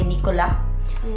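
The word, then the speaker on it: Nicolas: share to you is we don't really pronounce the last letters here in France so for example if it's s like Nikolas we say Nicola if it's Lucas we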